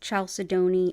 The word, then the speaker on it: chalcedony: Chalcedony is often pronounced chalcedony as well, in case you're like, wait, have I heard of that?